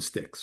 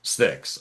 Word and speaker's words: Styx: From Styx.